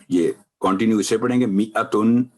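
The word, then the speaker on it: مِائَةً: میئتن الف نہیں پڑھا جائے گا، تو وقف کرتے وقت میئہ تائے مربوطہ ابھی بات ہوئی ہے، یہ 2 نقطے ختم ہو جائیں گے اور تنوین کی جگہ آئے گی جزم میئہ.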